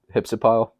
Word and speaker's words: Hypsipyle: I'm not exactly sure how to pronounce her name, but I think it's Hypsipyle, I believe, is how you pronounce it.